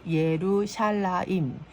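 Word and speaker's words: ירושלים: 성과 하나님의 성읍을 위함입니다 그 예루샬라임 예루살렘의 히브리식 발음을 위해 전쟁을 하는 것입니다 그날에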